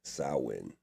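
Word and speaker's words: Samhain: And for those who don't know, it's actually pron it's spelled Sam Hayne but it's pronounced sin.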